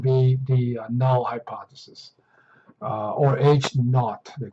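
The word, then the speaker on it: H₀: H subscript 0 would be the null hypothesis, or H naught, they call it. That's how you pronounce it.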